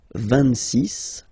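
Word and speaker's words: vingt-six: So remember it's ending with X, but then we pronounce it S. 26.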